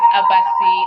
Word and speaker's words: Abasi: when you on mute tell me how to say your name perfectly I want to pronounce it right please go ahead all right thank you very much my name is Abasi okay okay um